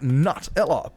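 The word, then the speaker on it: Nutella: yeah it was like I swear it's nut like nut Ella but at the same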